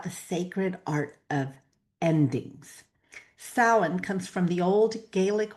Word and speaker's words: Samhain: And today we are stepping into the magic of Samhain, my favorite holiday. It is pronounced Samhain. It is not Samhain, which is what it looks like, but that's fun to say too.